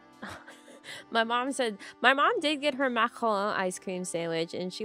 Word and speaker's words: macaron: If you want to pronounce it well, you have to sound as disgusting as possible. You gotta say macaron.